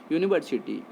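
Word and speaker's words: university: अब इस कॉन्सेप्ट को इन्हांस करेंगे, यूनिवर्सिटी, यू से स्टार्ट जो वर्ड हुआ है उसका साउंड यू की तरह है, दैट्स वाई हम लोग इसके पहले क्या इस्तेमाल करेंगे, आ का इस्तेमाल करेंगे।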